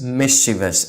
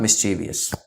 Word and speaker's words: mischievous: way it really is so it's mischievous it's not mischievous oh yes we also